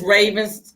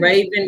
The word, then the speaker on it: Rhavynn: You guys, one of y'all mentioned Raven. What was her name? Oh, Raven Drummer. It's RHAVYNN. Oh, okay. Yeah, her name is spelled RHAVYN, 2 N's, drummer, like the drums.